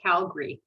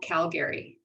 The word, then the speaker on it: Calgary: just pause you there it's actually pronounced calgary not calgary i'm just calgary you pretend you don't see the second a you know i i